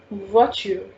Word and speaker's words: voiture: Till now, if you have any doubt, Rahul, the pronunciation of car in French, it's voiture, voiture, voiture, voiture.